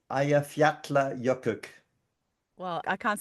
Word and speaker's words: Eyjafjallajökull: But I understand from the internet that it is pronounced Eyjafjallajökull.